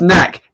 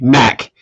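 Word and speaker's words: Nakk: No, you're pronouncing it wrong. For a start, it's Knack. N-A-K-K. Knack.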